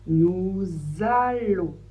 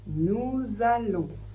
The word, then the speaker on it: nous allons: En français, ça fait le son on et le S, on ne le prononce pas. Donc on prononce nous allons. Je vous laisse répéter nous allons.